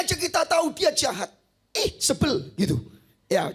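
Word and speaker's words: Izebel: Sebel gitu. Ya, cara bacanya saudara dalam bahasa Ibrani bukan Isabel, tapi sebel gitu ya.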